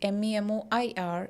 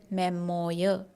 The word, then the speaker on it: memoir: Okay, so the next word is memoir, and it is not memoir.